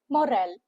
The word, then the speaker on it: morale: Two syllable words with a stress on the second syllable. M O makes the sound of M. M U H. And R A L. Moral. Moral. It is not moral or moral. It's moral.